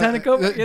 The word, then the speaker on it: Antetokounmpo: Giannis Antetokounmpo. I messed it up. How do you say it? Antetokounmpo? Yeah. Antetokounmpo.